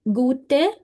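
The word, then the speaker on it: gut: सो it will be गुट नख गुट नख नहीं गुट नख नहीं गट नख नहीं स्पेलिंग है जी यू टी ई गुट पीछे ई की साउंड आनी चाहिए गुट गुट हां गुट होता है गुड गुट बट यहां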